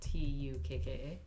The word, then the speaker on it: tukka: And that is just protoform tukka, Yeah. and modern form is the same. Mm-hmm. Okay. And stress will be on the first syllable because of the geminate.